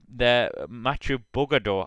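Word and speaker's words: Mathieu Burgaudeau: And yeah, guys, this is definitely going to be a missed opportunity for Trek Segafredo to double their Mathieu Bugador, I just got the correct pronunciation from someone who can pronounce French things.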